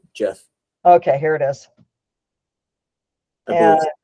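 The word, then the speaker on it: Geoff: jeff that's one way he's called jeff g-e-o-f-f jeff okay here it is and i want the lyrics jeff huh yeah and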